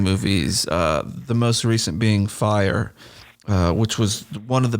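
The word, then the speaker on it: Fyre: Is it called Fry or Fire Festival? What was it called? I think it's Fire. Fire or Fry? Spelled in a bizarre fire, way. But it's Fire, but it's spelled with a Y-R-E.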